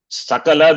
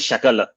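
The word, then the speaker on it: सकल: Sakala becomes Shakala. Gone. Sakala is total. Shakala is part.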